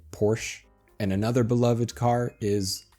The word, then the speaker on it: Porsche: Obviously, we have the Porsche. Some Americans like to be more fancy and actually say Porsche, but most people just say Porsche.